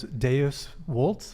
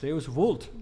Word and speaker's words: Deus vult: Speaking of Latin, Deus Deus vult? Deus vult. Deus vult. All the moderns want to do it the German way, but you got to do it like a good Italian.